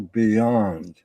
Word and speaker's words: Bjond: It's sometimes people don't understand that the J is pronounced with a yay or a ya sound, or Dr. Bjond.